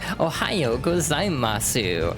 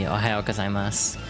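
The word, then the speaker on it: おはようございます: how they would, like, so it would be Ohayo gozaimasu. Like, the U is not supposed to be pronounced very strongly in a lot of the end of a lot of Japanese words.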